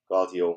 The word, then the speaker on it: Guardiola: There's that Guardiola.